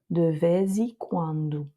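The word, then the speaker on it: de vez em quando: Donc là, le Z n'est plus prononcé je mais Z. de Vezi Kwandu. Donc c'est vrai que c'est une expression de temps en temps qui ressemble pas franchement au de temps en temps, c'est de fois et de quand si on le traduit littéralement. Mais euh en tout cas attention ici à la prononciation du e. C'est pas e, c'est pas e, c'est i de vikendo.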